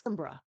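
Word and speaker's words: Kimbra: And it's Simbra. K I M B R A.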